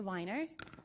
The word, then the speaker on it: Weiner: My name's Weiner. You can remember it because it rhymes with designer.